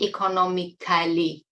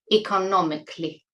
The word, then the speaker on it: economically: growing because I've been living economically also for pronunciation notice that it is not economically uh many of you make this mistake I of pronouncing c a l y as cell it's CLE economically so bear that in mind because it's important